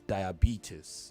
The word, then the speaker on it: diabetes: There is a stress. The stress is on the B, the third syllable.